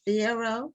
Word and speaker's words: Fierro: Rita Fierro. Is that the correct pronunciation?